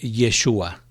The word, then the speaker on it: Yeshua: hebreo es exactamente igual en hebreo se pronuncia joshua o como se escucha este frecuentemente yeshua que significa dios es